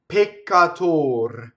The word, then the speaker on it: peccator: So double C, the double K sound actually is a hard C, is done the same way as double T. I go up to it and I don't say it.